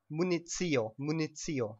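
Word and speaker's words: municio: It's munizio, okay?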